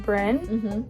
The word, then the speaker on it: Bryn: I say my name Bryn, so it sounds like it's B-R-I-N. And the Y throws people off.